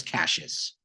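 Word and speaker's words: Cassius: about you know um Casas or Casas I should I should probably make up my mind how I want to say his name I guess I guess Casas is the correct way to say it y yon cashes has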